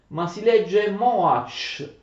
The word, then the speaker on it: Mohács: I know the Hungarian pronunciation, it is written like this, but we read moach, don’t read it in another way, because in